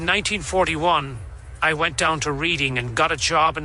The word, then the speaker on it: Reading: Nobody who lives there calls the town Reading. Reading is how it's spelled. And if you're running this through an AI, it's going to pronounce it that way.